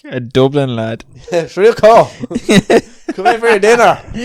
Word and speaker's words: Shirako: Clearly not the correct pronunciation. Okay, so if people want to spell themselves, it's SHIRAKO. Shriko.